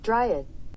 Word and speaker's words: dryad: verah Valentine anyway Zeus has news you're half dryad my boy I think is how you say it dryad oh my God I got it right back